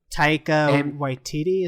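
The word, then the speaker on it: Taika Waititi: Tao Whiteiti.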